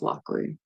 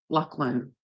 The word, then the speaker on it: Lachlan: They would say it like Lachlan. So that was kind of weird to me. Like they kept saying Lockley, and I'm like, but it was Lachlan, right?